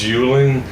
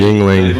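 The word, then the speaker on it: Yuengling: Hey man, you know what I noticed about this Yuling? It's got fluorescent fucking labels, dude. It's pronounced Hey, Yingling.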